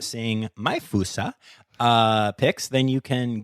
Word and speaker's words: fossa: you're not seeing my fousa uh pics then you can Google but it is Fasa F SSA um and actually some people do pronounce it FAA um but fousa is the more accepted and I like it